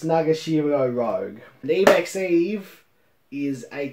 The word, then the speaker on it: Nagashiro Rouge: with it's written by nagashiro rouge just kidding nagashiro rogue i just mispronounced her last name as a epic funny gag it's nagashiro rogue an emacs eve is